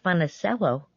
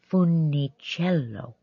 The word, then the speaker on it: Funicello: a beautiful name but you're mispronouncing it it isn't fun SLO it's Funicello but no one can pronounce Funicello I replied how will anyone remember it young lady mr.